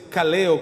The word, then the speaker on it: kaleo: Mire, y llamado viene de un original griego que es kaleo, con acento en la E, con K de kilo.